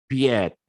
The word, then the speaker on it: peut-être: peut-être, ya, maybe, ya, jadi bacanya bukan peut-être, enggak gitu, peut-être, enggak kayak gitu ya, ya, peut-être. Kalau saya ya bacanya peut-être, tapi ada juga yang bacanya piet gitu ya, piet. Nah, kalau saya sudah terbiasa peut-être, nah kayak gitu ya.